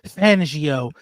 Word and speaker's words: Fangio: listen to fangio's um let me say his name right everybody keeps saying I'm saying his name fangio you know what I mean everybody want me to say it like um like like I'm Italian fangio when I listen